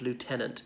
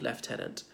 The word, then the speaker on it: Lieutenant: of it I think it is pronounced as Lord Lieutenant in relation to a County not Lord left headed like an either we